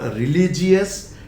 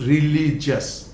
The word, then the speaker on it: religious: It is not religious, it is religious.